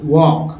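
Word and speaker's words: walk: blue ए ल के इसे पढ़ने हैं वो वॉक वॉक कम वो या आप इसे ऐसे भी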